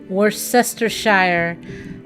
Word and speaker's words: Worcestershire: And so it's W-O-R, Cester, C-E-S-T-E-R, Shire, S-H-I-R-E, Worcestershire. So just in case you want to know, it is. And so now I call it Worcestershire sauce.